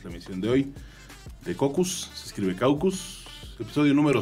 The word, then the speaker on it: Caucus: y hasta la próxima cocus se escribe caucus Pero se escucha en